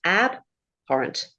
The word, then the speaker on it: abhorrent: Does the stress go to the first syllable? Oh, yes. Abhorent.